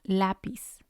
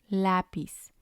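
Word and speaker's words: lápiz: not on the last syllable so we will pronounce them differently we have lapis lapis it means pencil so we have our syllables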